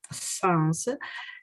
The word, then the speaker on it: son: the friends of my sons, and I can't speak with her. With them. Con loro. Ok, yes, son è scritto con la O ma si pronuncia con la A.